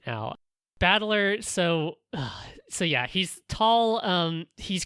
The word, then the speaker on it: Battler: That's but it's pronounced Battler, and so all the rest of his family is also like this.